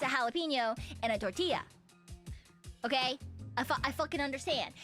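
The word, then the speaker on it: jalapeño: My favorite one to pronounce is gelapinos.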